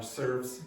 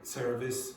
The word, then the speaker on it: service: So for example, lots of Brazilians will say offs instead of office, or serves instead of service, and things like that. Okay, so you need to be careful about the syllable length in that case.